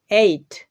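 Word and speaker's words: eight: উচ্চারণ হচ্ছে এই তো আই এর পরে যখন জি এইচ থাকে তখন কিন্তু জি এইচ সাইলেন্ট হয়ে যায় কোন একটা ক্লাসে এটা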